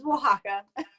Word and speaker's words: Oaxaca: It's Oaxaca.